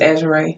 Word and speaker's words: AZUREE: That's pronounced Azure.